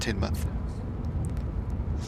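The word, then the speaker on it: Teignmouth: Neil at Tinmouth. Spelled Tinmouth, but it's pronounced Tinmouth.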